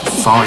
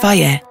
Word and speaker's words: FAGE: yeah it's pronounced far yeah yeah yeah yeah creamy yeah yeah yeah yeah yeah yeah protein Rich yeah yeah yeah fire fire it's pronounced fire for a reason